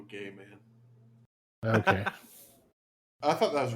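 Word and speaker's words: Gaiman: he's like directly involved can you say his name correctly please Neil gaming no no is it Gman are you trying to say it's Gman it's Neil gay man okay I thought that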